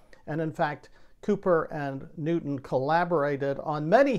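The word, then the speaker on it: Cowper: named william cooper now it's spelled c-o-w-p-e-r but it's pronounced cooper not calper who lived from 1731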